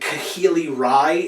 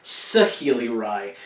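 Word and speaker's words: Saheeli Rai: I also mentioned Kahili Rai is the name of the new planeswalker. It's actually Sahili Rai. That pronunciation could be wrong, but I believe it is correct.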